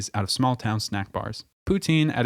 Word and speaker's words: poutine: Also, note the S sound made when pronouncing poutine in Quebec French.